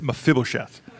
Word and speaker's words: Mephibosheth: say most people chef I'm probably going to mispronounce it many times but it's mephibosheth yeah no that's it